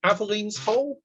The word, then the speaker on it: Aveline's Hole: Tell us about Aveline's Hole. Is that how you say it? Yes.